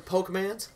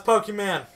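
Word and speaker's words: Pokémon: pronounce that right the pokem man and like the dude's like the man's like no it's Pokemon it's Pokemon so the economics teacher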